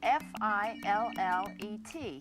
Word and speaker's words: fillet: The word that we use in describing fish is spelled f i l l e t and it should be pronounced fillet.